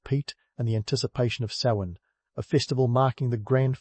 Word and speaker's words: Samhain: Samhain, pronounced Samhain, because why make it easy?